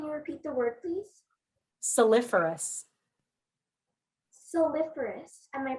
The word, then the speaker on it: saliferous: Your word is soliferous.